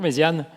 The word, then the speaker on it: Méziane: Bonjour, Méziane. Bonjour, ça va? Cela dit, c'est bien prononcé? Bien prononcé.